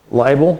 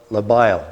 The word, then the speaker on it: labile: There's two kinds of carbon and and they're they're liel carbon. I think I pronounced that. L A B label. Labile.